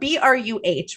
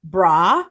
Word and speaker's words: Bruh: that he's saying it, it's spelled BRUH, right? Bruh. But the way that sometimes he says it, if he's saying it fast, comes out like bra, like come on, bra, and I'm like, no.